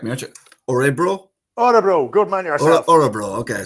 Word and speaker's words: Örebro: Örebro. Good man yourself. Örebro. Okay, so because people will be wondering how to pronounce that.